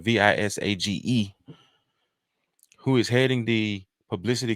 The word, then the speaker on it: Visage: Visaga. I'm sorry, Visage, who is heading the publicity campaign for the effort, stated, "Visage is a judge on RuPaul's Drag Race All Stars."